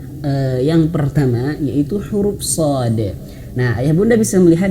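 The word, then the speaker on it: ص: Cara bacanya seperti ini. Shad. Nah, jadi di belakangnya itu ada huruf dal. Nah, huruf dal yang qalqalah shad. Nah, berapa harakat? Berapa panjangnya? Ya, ini warna ungu. Enam harakat.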